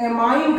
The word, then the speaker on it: ammine: कहते हैं, अमोनिया, अमोनिया, अमोनिया को इस चैप्टर में एमाइन कहा जाता है, एमाइन, क्या स्पेलिंग लिखते थे आप फर्स्ट ईयर में मेथिलमीन की, एमीन की स्पेलिंग लिखते थे आप AMINE, एमाइन, लेकिन यहां पर इस चैप्टर में इसकी स्पेलिंग है AMMINE, गौर करिएगा डबल एम एमाइन,